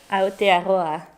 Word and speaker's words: Aotearoa: Aotearoa. Did I say it correctly? Aotearoa. Aotearoa.